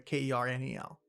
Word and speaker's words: colonel: Colonel with a K. Francis Sanders. Colonel spelled like a colonel, like a Kernel.